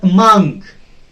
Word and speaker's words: among: In case of among, a long, among, is, a very short, unstressed syllable. It has to be shorter, it has to be faster, it has to be on a lower pitch. Among, but among has to be on a higher pitch because it is stressed.